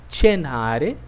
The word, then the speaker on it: cenare: C-E-C-I seria o som de che, chi, ok? Então, essas palavras são pronunciadas da seguinte forma. Cenare, cercare, circo, cucina.